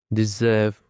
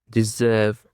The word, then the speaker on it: deserve: And for the first word we have got deserve. Deserve. It cont sorry it contains two syllables. Deserve. The stress is on the second syllable.